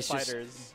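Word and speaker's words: FighterZ: It's just Dragon Ball Fighters. It's just Dragon Ball. Dragon Ball Fighters. It's yes. Synonymous with FGC. The Z is not pronounced.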